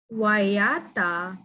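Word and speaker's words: waiata: Wayata means sing.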